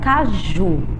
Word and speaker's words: caju: temos a palavra caju Qual é a sílaba tônica da palavra caju é o pedacinho Ju e observando aí a palavra Caju esse pedaço está em que posição na última posição vamos seguir esse padrão